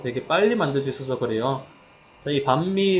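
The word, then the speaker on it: bánh mì: 편하고 과학고 싹 눈 시기에 자 이 가운데 반미 같은 경우에는 발음할 때 아까처럼 더 많음 할 때처럼 벌어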